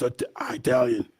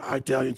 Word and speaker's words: Italian: It's Italian. Well, some people say Italian, some people say Italian. They pronounce it Italian because they're not in Italy, they're in Italy.